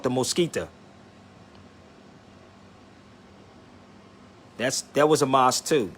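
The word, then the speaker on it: Mezquita: It's pronounced the Mosquita.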